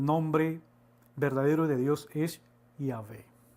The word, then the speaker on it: Yahvé: las 4 consonantes, como Yahvé. Entonces, de ahí donde pues podemos deducir, ¿no?, según estos estudios, que la verdadera pronunciación del nombre de Dios es Yahvé.